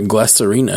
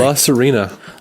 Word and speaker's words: La Sirena: Wait, Star Trek Glass Arena, who's that? It's the ship. It's Rios' ship. Oh. That's the name of it? Glass Arena? How do you say it? Sorry. La Sirena.